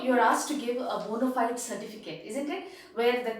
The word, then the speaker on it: bona fide: It is actually a word which is derived from the Latin language, which is pronounced as bona fide, fide. The pronunciation in Latin is actually bona fide. It is not bona fide as we use it.